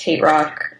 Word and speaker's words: HTRK: asked by um htrk which is pronounced hate rock um banned from australia